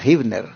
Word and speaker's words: Huebner: Esta está en el 16.320 Hibner Road. Interesante, se escribe en inglés con H, Huebner Road. Con H, Huebner, pero se pronuncia Hibner.